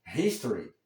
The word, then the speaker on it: history: Em inglês dizemos history, é a primeira sílaba, a sílaba com mais forte, né?